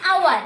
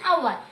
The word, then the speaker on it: hour: An hour. So as I said, your H is silent.